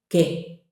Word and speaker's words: qué: In Spanish, ¿qué? ¿Qué? ¿Qué? With an accent. Okay? That U is silent.